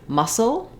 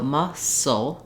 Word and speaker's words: muscle: together with the c the C is silent here and we just hear the S sound in muscle it has first syllable